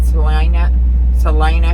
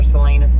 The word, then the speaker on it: Salinas: I am sitting here at my 01 in Salina, California, or Salinas. You know, hey, I know I butchered it, okay, and if you're from this hellhole, get over it.